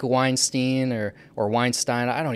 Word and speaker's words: Weinstein: miss say it because it's not supposed to be like Harvey Weinstein so I think it's Weinstein so I apologize Brett